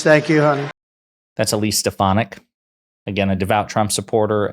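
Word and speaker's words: Stefanik: stuff like this great people Warriors really Elise stepan Elise thank you honey that's Elise stonic again a devout Trump supporter a New York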